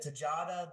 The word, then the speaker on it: Tejada: Miguel, is it Tejada? That's how you pronounce it.